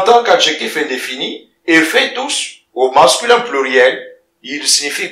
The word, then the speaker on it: tous: Tout est pronom indéfini, et fait tous au masculin pluriel, et le S qui est là, il se prononce.